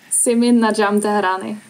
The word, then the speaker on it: Simin Nadjm-Tehrani: I need you to pronounce it one time, because I'm not very good at that name. I'm sorry. Simin Najim Tarat.